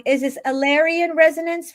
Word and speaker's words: Elarion: I always pronounce this wrong. Is this Alyan Resonance, right, Azria?